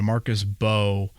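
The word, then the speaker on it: Mbow: Silent M. Silent M there. Marcus Bo.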